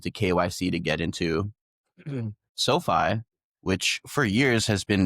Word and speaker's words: SoFi: SoFi, yeah.